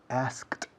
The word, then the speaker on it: asked: Un momento, I asked you. Ahora bien, Estoy comiéndome una letra grande, que es la K. Un purista dirá asked you, I asked you. Pero esa fonética es complicada para vosotros e incluso para nosotros los angloparlantes.